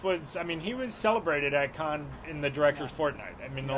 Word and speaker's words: Cannes: It's pronounced Can. Oh, Cannes. Yes. What are we saying? I think we might have said Con. It's Cannes. Whatever.